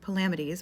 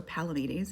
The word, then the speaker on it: Palamedes: In the pros Tristan, Palamdes or Palamedes, if you prefer that pronunciation, I like Palamedes shows up as Tristan's foil.